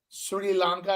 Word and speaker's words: Sri Lanka: know or whatever um Sri Lankan I had a customer from Sri Lanka and uh surely Lanka as they told me I said it wrong uh Sri Lanka and